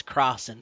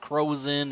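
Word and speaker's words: Crossen: my last name is cross and C O ssen and I've my last name has been butchered with croen and things like that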